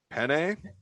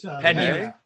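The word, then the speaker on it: Peña: But on terms of talking shit, I love that Juliana, I'm going to say Penne. It's Pena. Pena.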